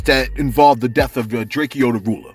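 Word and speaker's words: Drakeo: We reported to you the tragic events that involved the death of Draco the Ruler. My bad, Draco the Ruler. You know what I'm saying? The E is silent, all right?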